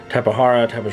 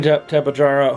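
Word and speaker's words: Tapejara: This is the Jurassic Park 3, Tapahara, however you say it. I say Tapahara, because I believe the J is supposed to be pronounced as an H. I could be wrong. Could be Tapajara, who knows?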